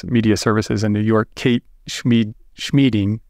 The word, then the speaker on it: Schmieding: One is there was a woman who worked for Office of General Services, Media Services in New York, Kate Schmieding, rhymes with meeting.